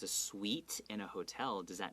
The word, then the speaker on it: suite: Right, and then if it's a suite in a hotel, does that mean 甜甜的? 哦，不是，它是指那个 hotel 里面的套房式的、套房型的这样的房间。 Right, and it's spelled differently. Okay, 对。甜甜是 S-W-E-E-T. This one, 套房 is S-U-I-T-E. Pronounced exactly the same.